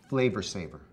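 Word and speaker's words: Flavr Savr: That's spelled F-L-A-V-R S-A-V-R, Flavor Saver.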